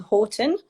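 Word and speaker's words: Horten: So the first chapter is you growing up in this sleepy town called Horton. Is that, if that's how you say it? But That's correct.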